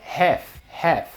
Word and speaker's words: Half: vai falar em inglês na pronúncia correta esse l não tem som e se a gente vai para um certo o inglês americano essa palavra é Hair e com o inglês